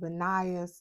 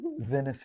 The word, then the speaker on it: Venice: I call him Benias. Let's see if I'm pronouncing his name It's correctly, first of all. What's your name, sir? Venice. Venice. So I say Venice, and it's Venice.